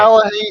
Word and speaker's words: Ta-Nehisi: Ta-Nehisi The Coates. Coates run. Ta-Nehisi has- Coates. That's how is- you pronounce it.